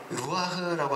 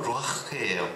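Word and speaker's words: רוח: 아담한테 불어넣어서 생명이 된 그거를 이제 루아흐라고 하는데 뭐 원어 발음은 루아흐예요. 그래서 흐가 아니고 루아인데 거기에 이제 히읗 받침이 붙는 약간 그런 우리나라에 없는 발음.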